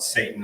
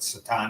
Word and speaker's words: Satan: You can call it Satan, they're spelled the same way, but Satan is the correct pronunciation.